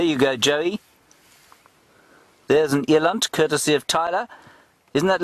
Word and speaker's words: eland: Eland, I suppose, is what I should be saying. Eland is the Afrikaans pronunciation. I got shouted at that by Mr. Graham Wallington yesterday evening, lest I be hauled in front of a disciplinary commission, I better say it correctly, Eland.